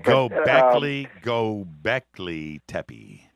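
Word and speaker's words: Göbekli Tepe: I mean I I don't know if I'm pronouncing that right go Beckley go Beckley Tey go Beckley Tey yes but but I mean I mean look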